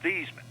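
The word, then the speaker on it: Theismann: i'll explain it later so he said it was thiesman i hung the phone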